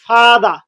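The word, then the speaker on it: father: example যদি আপনাদের দেখাই ফাদা আমরা ফাদার আজকে কি বলব ফাদা ফাদা ফাদা মাদা মাদা মাদা আর আর এগুলো হচ্ছে থাকবে এখানে এখানে শেষে থাকে আর উচ্চারণ হবে না আমরা কি করব মাদা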